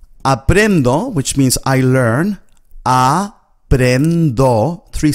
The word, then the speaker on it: aprendo: If you find this word difficult, just break it up into syllables. Aprendo. Then join the first two syllables together. Apren. Apren. And finally join the third syllable.